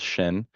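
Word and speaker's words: CYSHCN: with special health needs which we pronounce as shin and then adolescent health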